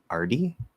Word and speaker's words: already: Already is pronounced RD in fast speech. I'm already there. Good question. Yeah, so in really fast speech, so remember, already can change into already. You can also drop the L part and say already or already.